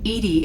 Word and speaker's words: EDI: why are you named edie edie is the phonetic pronunciation of edi that is an acronym for enhanced defense intelligence what do you